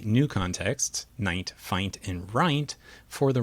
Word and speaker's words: fint: The way we approached it in our work is to go to neighboring non-words, in this case F-I-N-T, and we train the model to pronounce it as fint, as if it were a real word.